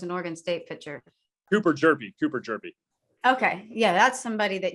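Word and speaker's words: Hjerpe: Yeah, that's somebody that you've mentioned a couple of times because the last name doesn't look like how it would be pronounced. Just got to drop that H. Yeah. Jerpy he's one of 3 finalists for the Golden Spikes Award.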